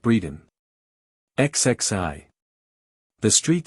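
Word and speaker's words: Bredon: you I will come one pronounced Breeden xxi the street sounds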